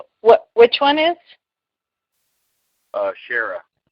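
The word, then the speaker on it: Kära: Shara. It's spelled with a K, A with 2 dots over it, R and an A.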